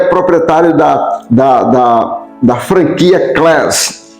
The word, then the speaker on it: Class: Class. É assim que se pronuncia.